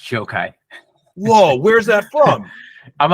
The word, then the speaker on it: Gjokaj: uh the introduction uh my last name is joke ey it's pronounced joke ey whoa where's that from